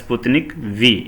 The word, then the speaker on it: Sputnik V: From that it is coming from the Sputnik V, and it is V, it is not the Roman letter 5, so it is called as Sputnik V, it is pronounced.